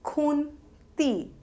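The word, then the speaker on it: খুন্তি: It is pronounced as khunti and it is spelled as khoi roshokar, donte noi toy roshoikar, khunti.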